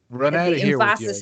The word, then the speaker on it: renaissance: that's that's more fun renaissance is on the second syllable yeah i don't know